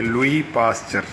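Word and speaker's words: Louis Pasteur: ये लुइस पढ़ना ज़रूरी नहीं, आप लुई भी पढ़ सकते, लुई पास्चर. और पास्चर में भी साउंड चे और टे के दरमियान है.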